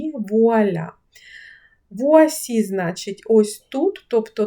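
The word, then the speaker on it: voilà: Р втратилося і вийшло вуа. Вуаля.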